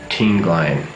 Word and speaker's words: Tinglayan: I can never remember how to pronounce this place. Tinglayan. Okay, it's called Tinglayan.